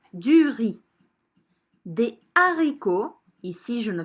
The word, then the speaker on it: riz: des pâtes du riz attention je ne prononce pas duris mais du riz des haricots ici je